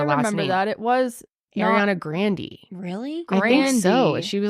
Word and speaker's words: Grande: come up that you it's not grande it's like Grandy oh yeah remember that